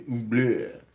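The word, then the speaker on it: oubliette: This one is called the oblique, and the oublié is how it's pronounced.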